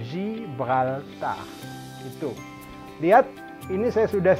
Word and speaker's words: Gibraltar: dibaca sih bekal tanda bukan Gibraltar bukan juga seperti bahasa Inggris Gibraltar karena Zee Ini masuknya sama bunyi yang lembut zibrolta itu lihat ini saya